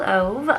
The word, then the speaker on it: Ove: had a man called ove or ove as I have heard other people pronounce it and this book